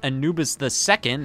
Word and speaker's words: Anubis II: Whispering that to me Anubis 2 is actually supposed to be pronounced Anubis II as if this is The Offspring of the Original Egyptian god Anubis okay that's fine but just